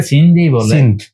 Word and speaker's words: সিন্ধ: আমরা সিন্ধু বলি, ওরা সিন্ধ বলে। উর্দু এবং ইংরেজিতে অথবা হিন্দিতে সিন্ধি বলে, আর আমরা বাংলায় বলি সিন্ধু।